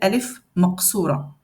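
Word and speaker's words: ألف مقصورة: Ça s'appelle alif maqsoura. Donc, on la travaille un petit peu après. Je ne vais pas vous l'expliquer maintenant. On la prononce comme si c'est alif.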